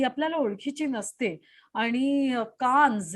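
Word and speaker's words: Nice: आता स्पेलिंग जे आहे नाहीच येतं, पण उच्चार बरोबर. करताना आपण निस आहे.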